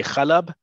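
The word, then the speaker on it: حلب: In Hebrew, we say Halab.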